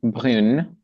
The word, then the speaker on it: brune: So the masculine form is brun, brun. Okay, then feminine form is brune.